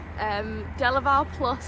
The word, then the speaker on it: DeLaval Plus: How do you pronounce it? DeLaval Plus. DeLaval Plus.